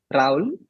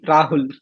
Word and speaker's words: Rahul: name to be honest my name is Raul it's how I pronounce it that's how I pronounce it but you travel like 100 kilometers from here and they'll call me Rahul um yeah that's like the common way of uh pronouncing my name in my hometown they'll call me ragul which is with a g in it instead of H so like that's what